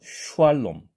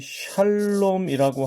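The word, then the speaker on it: שלום: 해 주시기 바랍니다 자 예를 들어서 샬롬이라는 말의 경우에 여기에 지금 샤의 시옷이 쉰이 쓰였습니다 그런데 만약에 이것을 단순히 휴라고 규정짓고 발음을 한다면 휴 알 놈처럼 되겠죠 슈왈놈 슈왈놈 자 이렇게 되면은이 샬롬이라고 하는 발음에서 약간의 왜곡이 일어나게 되겠죠 어색한 발음이 됩니다 자 이번에는 수월이라는 말도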